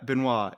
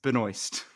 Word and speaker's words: Benoist: No, it's not Benoit. It's Benoist.